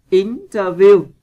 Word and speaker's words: interview: Interview, vần 1.